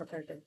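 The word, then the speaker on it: coup: Military, ये कूप लिखा है लेकिन ये पी जो होता है इसका साइलेंट होता है, इसलिए हम इसे मिलिट्री कू बोलते हैं।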